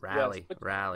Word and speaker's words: Raleigh: Now I'm making a point to actually pronounce that correctly. Sherry, she said Raleigh or something. Yes. Raleigh.